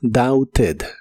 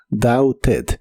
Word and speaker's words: doubted: La pronunciación oficial es doubted. Doubted, pero en inglés hablado es muy común pronunciar la T de este verbo como R y lo dicen como doubted. Doubted.